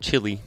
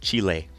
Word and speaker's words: Chile: Also, for reference, I pronounce the country not Chile, but Chile.